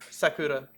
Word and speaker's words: Sakura: Sakura.